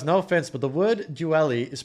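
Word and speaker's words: dually: No offense, but the word duelli is pronounced duelli, not duelli.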